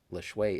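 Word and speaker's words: Lajoie: Yeah, I know it doesn't look like it's spelled. I never knew how to pronounce it for many years, but Lachey is supposedly the correct pronunciation.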